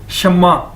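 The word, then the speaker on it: 什么: Chinese शब्द है और इसको प्रोनाउंस कैसे करेंगे इसको बोलोगे कैसे शमा जी तरह के एक नाम भी है शमा ठीक है शमा शमा और इसका मतलब क्या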